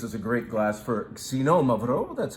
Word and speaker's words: Xinomavro: It behaves a little bit like a Nebbiolo from Italy, but this is really Greece's great red grape, Xinomavro, and that's how you say it.